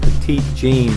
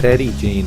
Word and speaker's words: Petit Jean: this right here - I want to call it Petit Jean but it's Teddy Jean I think is the way to pronounce it but here we left